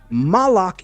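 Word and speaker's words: מַלְאָךְ: You see, there are three ideas I just represented that are spelled exactly the same in biblical Hebrew, but each different pronunciation yielded a different meaning. Melch is how we say king. Malik is an angel. Molech is a god that the creator told us don't worship.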